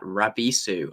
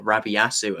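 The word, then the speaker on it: Rabisu: of all is that rabisou or rabiyasu as i used to continually mispronounce it as and for those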